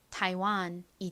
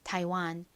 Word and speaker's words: Taiwan: 그래서 연결해 보면 타이완이 됩니다. 타이완. 타이완은 어떤 나라일까요? 대만을 의미하는 단어입니다.